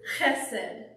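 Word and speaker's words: חסד: And that word is chesed.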